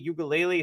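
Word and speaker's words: Uiagalelei: and cam Ward and Oregon state has DJ ukulele is that how you pronounce his last name perfect so great I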